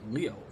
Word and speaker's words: Leo: Leo IO ioji it's written with a kanji for lion to be sure but it's pronounced Leo I wager you're impressed let